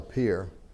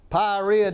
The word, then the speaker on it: Pierre: name, he says, Pyrrhia D. And I answered to it. I didn't want to, I'd let him call me whatever he wanted to. But yeah, I pronounce it Pierre, like Pierre, South Dakota.